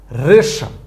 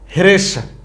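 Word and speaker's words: হ্রেষা: কি পেয়েছিলাম রদ রাস রেশা এখন এভাবে পড়বো নাকি আপনি বলবেন হরদ হাস হেরেশা এভাবে পড়া যাইবো না এমনে পড়লে কিন্তু ভুল হয়ে যাইবো কেমন এমনি পড়বেন না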